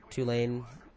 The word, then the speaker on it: Tulane: of Tulane or not University just a two lane I guess yeah sheelane university it's not how you say it though um and she